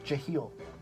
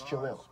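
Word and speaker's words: Jahlil: Jahil. It's Jalil.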